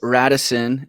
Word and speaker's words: Radosin: I think Radisson, which is actually how you say his name. Radisino?